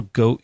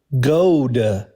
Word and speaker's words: goad: When people goat you, is that good? Goad. Okay, yeah, I don't know this word. Like rhymes with chode?